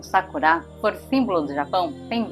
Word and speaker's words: Sakura: palavras da língua japonesa a pronúncia correta é Sakura como se tivesse um acento agudo no último a palavra sacura e não sacura que por causa das regras da língua portuguesa né Di oxítona paroxítona proparoxítona acaba sendo pronunciada como Sakura mas o correto é Sakura nesse ano de 2024